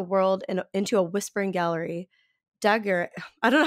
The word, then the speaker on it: Daguerre: into a whispering gallery, Daguerre, I don't know how to say his name, Daguerre, like daguerreotype, by the simple but all-abounding sunlight, has converted the planet into a picture gallery.